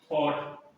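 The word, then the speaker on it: thought: थॉट, थॉट, what, सब कॉट, मतलब क्या होता है इसमें, थॉट, यू साइलेंट रहता है इसमें, ठीक है।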